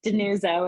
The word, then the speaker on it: DiNuzzo: say your last name that's a good Italian pronunciation of a yes denote so if you're feeling as spicy in Italian just denuzo if you're American okay Nora did you